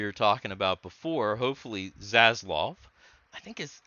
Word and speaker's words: Zaslav: talking about before hopefully zazloff i think is i've heard his name pronounced a bunch of different ways but i like saslov because it sounds tough um hopefully he kind